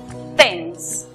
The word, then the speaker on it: tense: Con la palabra tenso, que se escribe, vemos que hay emud al final, precedida de dos consonantes. La vocal que queda toma su sonido cerrado. Entonces la pronunciación es tense.